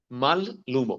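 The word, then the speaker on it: mallumo: sinal terminou em L nesse caso elas duas têm que ser pronunciadas mal lumo malum rapidamente mesmo falando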